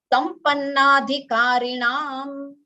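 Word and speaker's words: Sampannādhikāriṇam: Sadhana chatushtaya Sampannadhikarinam. Sampannadhikarinam. Acha, I think in that text it is Sampan Adhikarinam, but it is, you should chant Sampan Adhikarinam. So because of Sandhi, it becomes A.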